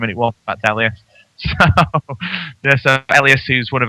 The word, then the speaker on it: Elias: And so I asked him how you pronounce his name, and it was in fact Elias.